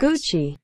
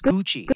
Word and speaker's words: Gucci: The two C's make it a CH, guys. Gucci. It's Gucci.